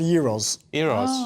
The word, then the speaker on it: Gyros: written uh Gyros oh yeah but would be pronounced Euros euros and so it's a much lighter so